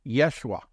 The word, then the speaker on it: Yeshua: Joshua's name stands out Joshua's name means something in Hebrew it's pronounced Yeshua translated into England English